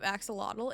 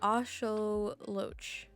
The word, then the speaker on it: axolotl: So it's actually axolotl and not axolotl.